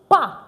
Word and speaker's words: pas: Followed by your verb suis, and the next thing that follows is pas. Please, it's not pass. This S is not pronounced at the end.